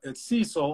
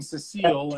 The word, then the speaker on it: Cecil: And it's Cecil. I was saying Cecile, and it was like I'm so glad that I asked you before, like how to say your name.